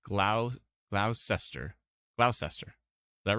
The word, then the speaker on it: Gloucester: I said glow whoops GLA Chester is it glot Chester someone says Gloucester Gloucester tell me if I'm